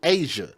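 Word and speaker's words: Azsia: It's a Z SI A. Asia.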